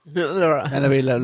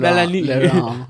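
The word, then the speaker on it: Mélanie Laurent: You couldn't pronounce Melanie Laurent. Laurent. Melanie Laurent. Melanie. Laurent.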